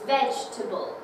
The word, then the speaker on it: vegetable: the stressed student, but the stressed syllable has to stand up, and the unstressed syllable, they sit down. So we can visually see it, it's vegetable, okay?